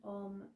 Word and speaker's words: om: within our body so remember it's pronouncing a u and we hold the m so a and u is with the mouth open and m is with the mouth closed so let's try let's